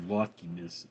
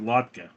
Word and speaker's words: latke: Um, I haven't had one in a while, although I have a box of latke mix. That's funny, my mother always pronounced it latka, but it's latke.